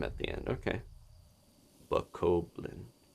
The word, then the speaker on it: Bokoblin: Bokoblim. Oh, somebody says an M at the end. Okay. Bokoblin. It's interesting reading pronunciations out.